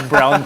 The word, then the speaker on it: Braun: should pronounce it. Third quarter ko na nalaman na Brown pala yun.